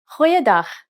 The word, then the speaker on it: goeiedag: Try pronouncing it from the back of your throat.